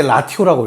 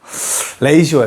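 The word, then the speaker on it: ratio: r 그렇지 레이시오라고 합니다. 레이시오. 레이시오. 나도 너네 아예 때 라티오라고 읽었어. 레이시오야. 레이시오.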